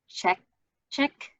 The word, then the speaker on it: Chechik: i pronounce this wrong is it check check how do you pronounce it properly that's perfect great um who's head of